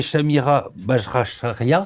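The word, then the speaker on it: Chanira Bajracharya: qu'on ne connaît pas moi j'ai j'ai relevé Shamira rachia c'est comme ça qu' dit c'est pas mal prononcé exactement c'est c'est une une koumarie une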